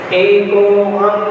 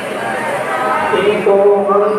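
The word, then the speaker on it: एकोऽहम्: ठीक है, जो एस टाइप से ये अवग्रह जो बना होता है इसका उच्चारण इसके साथ हो जाता है। को थोड़ा सा खींच लिया।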